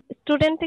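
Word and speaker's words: student: দিয়ে উচ্চারণ হয়, তো এস এর পরে যখন এটা আসবে তখন আমরা আর এটাতে কি দিব না, ওই যে স্ট্রেসটা আর দিব না, স্টুডেন্ট এভাবে পড়ব, আমরা স্টুডেন্ট এভাবে কিন্তু বলবো না।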